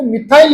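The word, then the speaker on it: methyl: To amine आप टू मेथिल propane two amine या टू मिथाइल भी इंग्लिश उच्चारण में इसको मिथाइल ही लिखा जाता है।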